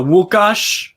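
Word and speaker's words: Łukasz: and comes on uh wukash that's how you say it in polish uh nufc hawaii the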